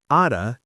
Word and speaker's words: outta: It's pronounced kind of like ow na, but with that quick T sound in the middle.